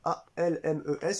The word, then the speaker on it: Almes: VO donc bah Scott Almes ça s'écrit comme ça a l m e s il y en a beaucoup qui disent Scott ELMS mais c'est bien Almes donc bah je vous